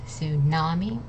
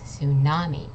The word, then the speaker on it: tsunami: that syllable so it's tsunami okay the t is not pronounced it's just tsunami then we have ruin